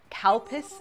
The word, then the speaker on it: Calpis: I definitely said calpis it's a cowpis is the pronunciation it's a Japanese yogurt